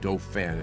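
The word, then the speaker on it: Dauphin: Doofan is pronounced.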